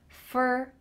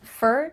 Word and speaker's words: for: I work for, we're using that same pronunciation again, F-E-R. I work for the marketing department. Make sure that if you use this reduction for, you're speaking a little bit quickly.